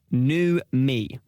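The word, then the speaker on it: numi: This last one, new me, a feeling you create when carefully arranging small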